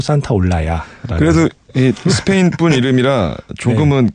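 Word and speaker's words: Santaolalla: 산타올라야네 이름 어렵죠 이게 그 스펠링을 보면 그 맨끝에 s a t o l 끝나요 그래서 보통 많은 사람들이 잘못 읽어요 산타 올랄라라고 이렇게 그 그 잘못 발음하는데 스페인어에서 L 두 개는 약간 y 발음이 그래서 예 어 어디 가셔서 구스타포 산타 올랄라 알아 이러면 약간 좀 없어 보이는 거요 그 어디 가셔서 구스타포 산타 올라야 아러라고 이제 말씀하셔야 되고 누군가 산타 올랄라 하면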